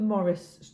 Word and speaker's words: Maurice: So William Maurice is Morris, and our granddad was Maurice, Maurice.